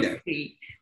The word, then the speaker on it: Giuffre: Yeah, Giuffre. That's Jew Free.